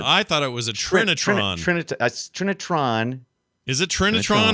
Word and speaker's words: Trinitron: trinitron or trinitan it's trinitron i do sometimes say it too fast and say trinitan but it's not it's trinitron is it there's a tron it there's a tron at the end of that yeah sometimes i skip